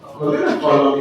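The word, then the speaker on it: column: ओ एल यू एम एन क्या पढ़ेंगे इसकोल कॉलम ए को कॉलम बी से मिला ब आज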